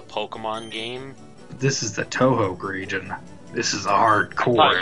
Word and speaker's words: Touhou: this is a Pokemon game this is the Touhou region this is a hardcore you're gonna say this is Touhou this is Touhou this to you that's how I pronounced it at first whenever